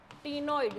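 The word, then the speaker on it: cnoid: नाम में आंसर है नइड सी साइलेंट है भाई नॉइड स्केल नॉइड स्केल पहले डायग्राम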